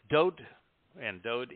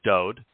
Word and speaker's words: Dowd: of literature probably ever written, we find that Dowd is the correct pronunciation of the name that is known by most people as David. And it is Dowd because there are only three letters in his name.